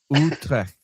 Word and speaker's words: Utrecht: Just pronounce the T a little bit harder at the end. Utrecht.